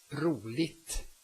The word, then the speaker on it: roligt: And then I wanted to mention all the adjectives that end in igt, like roligt, fun, roligt. You drop the G and you say roligt.